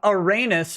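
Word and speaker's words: Arenas: about a man whose last name uranus rhymes with anus and is about him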